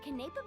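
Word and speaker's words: Quenepa: Oh, and by the way, there will be lots of iced Canepa berry juice at the dinner. My treat. That's how you pronounce that fruit.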